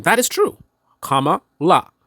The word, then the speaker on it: Kamala: name that is true comma La comma like a comma in a sentence la like La whatever right it's actually